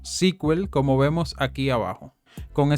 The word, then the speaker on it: SQL: de consulta estructurado y se pronuncia como squel como vemos aquí abajo